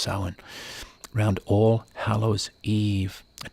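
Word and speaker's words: Samhain: s m h a i n but it's pronounced sa round all Hallows Eve a time of neighbors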